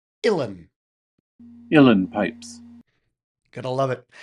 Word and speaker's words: Uilleann: per usual, things that come from Ireland or Scotland are spelt in a way that you would never pronounce things. Uilleann is pronounced Uilleann.